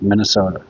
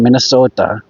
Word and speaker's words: Minnesota: We don't say it like that. It's Minnesota. It's not You don't got to put the emphasis on on the end. It's not Minnesota.